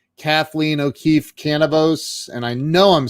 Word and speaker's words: Canavos: It rhymes with cannabis, but with a V. So cannabis. Well, there you go. I did not know that. So it's O'Keefe Canavos.